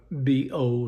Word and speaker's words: Beau: I asked, pronouncing it with a B-O sound. "No, my name's Bo. It's spelled B-E-A-U.